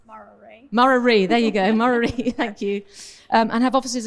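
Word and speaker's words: Murarrie: Now, forgive me if I pronounce that wrong. I've only been here 6 months. Murari. Murari, there you go, Murari, thank you.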